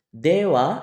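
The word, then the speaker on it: では: kalimat negatif kita ganti menjadi dewa ini bukan di baca H juga tapi wa Dewa arimasen atau ja arimasen watasiwa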